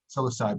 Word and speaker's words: psilocybin: The entourage effect includes what else besides psilocybin? Is that how you pronounce it? Psilocybin, yeah.